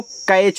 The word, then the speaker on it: catch: यहाँ देखो आपका अगर TCH लगा हुआ है एक साथ, तो यहाँ पे T आपका जो होता है साइलेंट होता है, ठीक है। तो यहाँ देखो C से आप यहाँ का पढ़ोगे, ए का उच्चारण ए की मात्रा, तो यहाँ पे T आपका साइलेंट रहेगा, CH से केवल आपको यहाँ पे चा पढ़ना, ए आपका कैच हो गया।